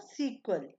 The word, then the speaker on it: SQL: short form S क्यूएल जिसकी pronounce है सीक्वल एस क्यूएल सीक्वल यह एक क्वेरी लैंग्वेज